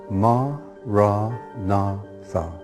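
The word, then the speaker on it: maranatha: you choose that word say it as for syllables ma ra na Tha listen to the word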